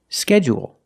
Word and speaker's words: schedule: first syllable only and some people stress both syllables if you stress both syllables you say schedule schedule and you say